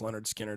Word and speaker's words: Lynyrd Skynyrd: fact that they had played that first album pronounced Leonard Skinner they had played that album for like two